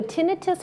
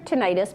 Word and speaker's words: tinnitus: So tinnitus or tinnitus, both pronunciations are correct, is actually a ringing in your ears.